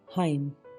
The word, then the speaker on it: hymn: HYMN हाइम, भजन या हम बोलते हैं।